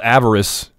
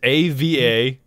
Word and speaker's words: avarice: It's called avarice. Value. Heavenly, I'll play one more. It's one of my core values. Yes. What's the difference? Spell that. All right, avarice, A-V-A-R-I-C-E.